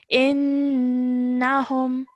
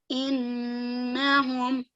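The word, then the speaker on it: إِنَّهُمْ: So, noon gunna is when noon mushaddad appears. You have to hold that nasal sound in your nose for about 2 seconds.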